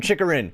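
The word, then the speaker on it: Chychrun: because it's bugging me i finally learned how to say someone's name chicarin whoo let's go alright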